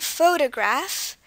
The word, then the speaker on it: photograph: photo PHH all right photograph and from what we can tell this word has three syllables photograph and there is a stress or an certain level of emphasis at the beginning which is not present